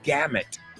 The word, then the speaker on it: gamut: Sí, se escribe gamut, pero es gamut.